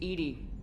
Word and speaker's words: EDI: airlock is a jar why are you named Ed Ed is the phonetic pronunciation of e that is an acronym for